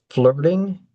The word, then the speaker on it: flirting: So if you have trouble with the FL, you can make a syllable. You can treat L as a vowel. Say full bird, flirted, flirting, flirting, flirting. And in in US pronunciation, this T and the T in started are going to sound closer to a D.